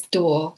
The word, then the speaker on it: Duo: Well, the way I pronounce it is Duo because it's from Mandarin.